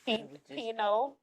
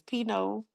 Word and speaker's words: Pinot: We just pino pino greeno. No geraro girl. Y'all we just we just practice saying this. What is peanut girl? Remember the t is silent. is pino pino Romano orange wine.